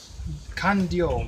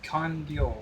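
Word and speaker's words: Kanryō: कैनरियो Kandio, D-R-Y-O, Kandio, कांडियो Higashi Onna.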